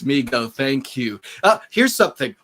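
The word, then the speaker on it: Mego: hopefully not drinking don it's pronounced me go as neil put it fact ultraman is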